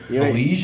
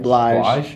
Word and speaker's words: Blige: Blige, how do you say it? Huh? Blige. Blige? Yeah. Oh, Blige. Like obliged, yeah.